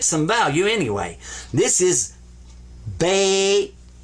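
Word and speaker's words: بيت: Sukoon means don't pronounce it, but give it some value anyway. This is bait. Bait, house.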